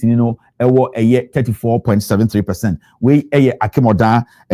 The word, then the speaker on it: Akim Oda: Akim Oda and Achim Oda. Achim Oda and I say Akim Oda. However you want to pronounce it, it's up to you.